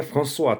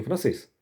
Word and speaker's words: français: E o nome francês no idioma, né, francês, francê, ó. Francê. Não, gente, ó. Não é françois, tá? François é Francisco em francês. Francê é o idioma.